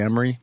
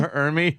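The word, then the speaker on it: Ermey: Arlie Emery? Arlie Ermy. Or Emery. How do you say his fucking name? Ermy. Ermy, right.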